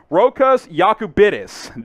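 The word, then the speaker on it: Rokas Jokubaitis: joe could be the j is not a j sound for a little hint there rokos okabitus we'll go ahead and take this over here it is uh rokas yakubitis that is how you pronounce this one so uh you know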